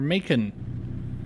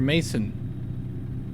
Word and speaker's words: Macon: Oh, we're in Macon (Mack-en)! …Or Make-en, or Mace-on, or however you want to pronounce it.